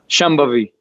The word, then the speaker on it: Shambhavi: Can you pronounce Shambhavi? Shambhavi.